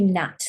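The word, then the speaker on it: gnat: to go does it let's do Nat that's a nice easy one you've got this here already on the on the NAT silent G so write it again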